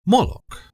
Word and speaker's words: Moloch: Moolok, sometimes pronounced as Molec, is a name that